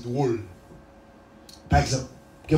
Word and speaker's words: drôle: Une règle française qui dit que les voyelles là, il y a un accent circonflexe sous lui. Il n'est pas prononcé de façon lourde. Par exemple, nous avons drôle. D-R-O accent circonflexe L-E. Il y a des gens qui disent drôle. Mais tu as préféré dire drôle.